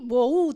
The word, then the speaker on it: bohu: vacía, que viene de una palabra hebrea que se escribe tohu con H intermedia, y bohu también, así como suena, significa confusión y vaciedad de esa palabra.